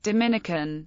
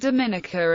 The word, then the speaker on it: Dominica: are more adjective is Dominican in English it is pronounced with the syllable stress on the second I to distinguish it from the Dominican Republic where the stress is on the first I history early European contexts